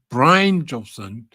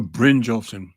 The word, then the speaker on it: Brynjolfsson: AI conference with Aaron Brynjolfsson, director of Stanford Digital Economic Lab. And I actually looked up how to pronounce his name yesterday. So it's Brynjolfsson or Brynjolfsson. I think it's Brynjolfsson.